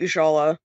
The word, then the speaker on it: Ushala: guess it's currently ongoing, Ushala at World's End. Am I mispronouncing that first name? You did pretty good. I think it's fine. Okay. I think Ushala. No emphasis necessary.